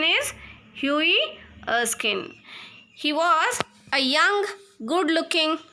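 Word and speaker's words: Hughie Erskine: this is a story of hii oin the pronunciation is Hui Eskin he was a young good-looking man and he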